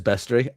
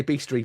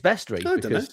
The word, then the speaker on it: bestiary: Everybody else in the world says bestiary. I say beastry because I'm an idiot. So I can't help it. No, it is bestiary. I don't know how you say it. There's no A in it, I assume.